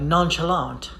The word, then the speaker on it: nonchalant: a fancy one like nonchalant right they do pronounce the letter t at the end but you should not if you still want